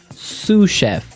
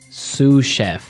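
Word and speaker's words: sous: our second word sushi suf suf suf s o u s so the S is silent because it's like a French word yeah something like that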